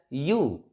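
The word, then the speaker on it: ewe: word e w e this is pronounced as you you like why you and that's why we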